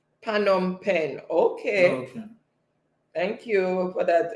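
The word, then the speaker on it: Phnom Penh: comes empress again so empress said it is pronounced phanom pen pan on pen okay thank you for that empress sediment saying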